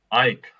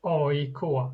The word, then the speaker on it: AIK: Ike. Is that right? How you pronounce it? Pontus. Yeah. I would say we say AIK. It's like it's like 3 letters. You say them separately.